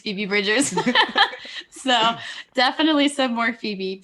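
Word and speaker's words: Phoebe Bridgers: say it like barbs but it's feebie bridgers so definitely some more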